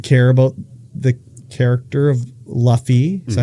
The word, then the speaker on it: Luffy: But it's like, I don't care about the character of Luffy.